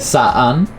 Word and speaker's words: Saan: Saan, that's how you pronounce it. Saan. Yes. So anytime you have, what do you call this, Tagalog words that have two vowels in it, you pronounce them separately. We don't have silent letters in Tagalog.